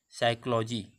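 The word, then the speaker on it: psychology: साइकोलॉजी, साइकोलॉजी word, देखिए पी एस वाई, इसको हम पी साइलेंट रखेंगे, एस वाई सी एच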